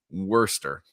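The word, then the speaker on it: Worcester: it they say they they say all those letters in the middle be damned them we're not gonna pronounce them she's gonna be Worster wor wer wor Mel's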